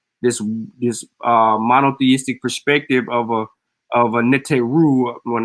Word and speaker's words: Neteru: yeah, You're supposed to roll your R's when you say Neteru. you right. Okay. Neteru.